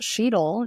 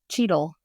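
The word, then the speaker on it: Cheadle: say his name wrong it's not shetel it's cheel cheel Don cheet I have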